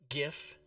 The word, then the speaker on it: GIF: First reason is the creator of the GIF says it's pronounced GIF, and he's dead, so you have to honor his wishes.